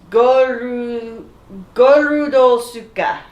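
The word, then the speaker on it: ゴールドツイカー: It's pronounced Gorudo Suka.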